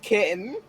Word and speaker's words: Ktjn: Yeah, it's pronounced kitten. Also, hey Gordon, hey, play Fire Emblem Awakening. Well, okay. Pronounced kitten in English, Katrine in Italian.